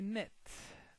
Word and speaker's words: knit: vocabulary the First vocabulary nit as you can notice here the K is silent k because when we